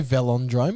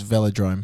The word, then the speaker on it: velodrome: but sue me whatever dude did you say velondrome or velodrome because it's velodrome v-e-l-o-d-r-o perfect perfect because i've been pronouncing it velendrome yeah just because i think it sounds funnier